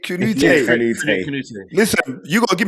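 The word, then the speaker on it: Kanouté: Kanate? No, you didn't say it right, but you're getting the right person. Frederique Kanute.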